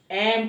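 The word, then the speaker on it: ऐं: यद्यपि भगवती देवी सरस्वती के बाग बीज मंत्र का शुद्ध उच्चारण ऐम है, परंतु कृपामयी भगवती उतथ्य के ऐम शब्द मात्र से प्रसन्न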